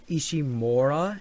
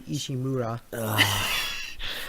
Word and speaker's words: Ishimura: By the way, they mispronounce it. Really? They say Ishimura, and it should be Ishimura.